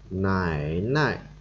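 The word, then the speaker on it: 奶奶: Chữ nại hoặc là chữ dê là không có dấu thì chúng ta đọc nhẹ, đằng trước thì chúng ta đọc hơi nặng hoặc nhanh hơn một chút.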